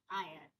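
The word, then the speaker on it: heir: Sound like hour on honest sounds like honest and हायर sounds like आयर। ई देखिए यह हायर भी एक एच ई आई आर होता है। इसमें भी यह एच साइलेंट है।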